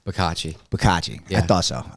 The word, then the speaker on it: Bicocchi: how do you pronounce your last name? Bicocchi.